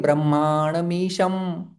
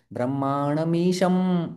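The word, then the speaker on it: ब्रह्माणमीशम्: लेकिन ब्रह्मामीशम तो ईशम के बाद जो है वह ईशम शब्द है वह यहां पर जो अनुस्वार है उसका उच्चारण म जैसा होता है। ब्रह्मामीशम तो फिर हमारा म के लिए ओठ बंद हो रहा है क्योंकि यह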